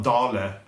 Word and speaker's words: Dale: called it um a dollar a dale sweater of norway is a is a sweater brand and it's also a yarn brand um it's pronounced dale in english but in norwegian but it's and it's